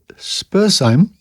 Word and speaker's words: Spurzheim: On being forbidden to promulgate his teachings further in that country in 1802, he went, with a disciple named Spurzheim, I think it's pronounced, to France and England, and there spread his doctrines.